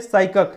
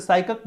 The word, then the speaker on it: psychic: ये क्या है, ये साइकक है, PSYCHIC, ये इसे साइकक बोला जाता है, पी साइलेंट होता है।